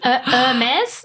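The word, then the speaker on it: Hermès: Hermes. The H is silent.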